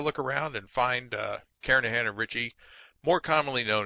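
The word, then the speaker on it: Kernighan: will be using the kernigan and Richie or Karan I should say the g is silent karahan and Richie C programming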